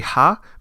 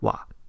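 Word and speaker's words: は: No, just like how wa is supposed to be ha, but as a particle you pronounce it as wa.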